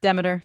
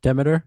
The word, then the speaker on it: Demeter: Biodynamic is Demeter or Demeter. How do you say it, Kim? Demeter. Demeter, yeah. Yeah.